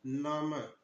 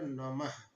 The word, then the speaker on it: नमः: कहने का तात्पर्य यह है कि हम किसी भी वर्ण या किसी भी अक्षर के आगे अगर हम विसर्ग लगाते हैं तो उस उस वर्ण के आगे ह का उच्चारण होने लगता है। जैसे यहां पर देखिए नाम म के आगे ह लगा है तो हो जाएगा नमः। क्या हो जाएगा? नाम इसको हम नमः पढ़ेंगे।